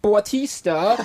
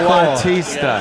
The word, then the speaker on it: Bautista: Bautista. How do you pronounce it? Batista. Oh, okay.